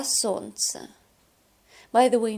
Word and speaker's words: солнце: Солнце, солнце, солнцу, солнце, солнцем, а солнце. By the way, notice that the sound, the letter L is not pronounced. We do not say солнце. We say солнце.